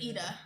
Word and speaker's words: Eda: to pronounce that i it's eda yeah i thought it was idiot okay but um i